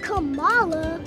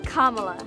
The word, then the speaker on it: Kamala: not camella it's not kamala it's not camella it's kamala kamala harris kamalas for our